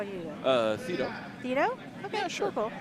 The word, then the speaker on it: Theado: Theado. Theado? Okay, Yeah, sure. Cool. Actually, Bobbie, Todd, how do you pronounce Jay's last name? Theado.